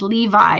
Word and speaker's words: Levi: Okay, so Lizzie says, I used to pronounce Levi as Levi all the time, or Levi. You heard people say it with that spelling, so you went with it.